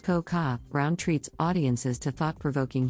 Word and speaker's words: Cocoa: Network, the hilarious comedian/actress Coco, pronounced Coca, Brown treats audiences to thought-provoking humor in which she declares, "I don't tell jokes, I tell the truth."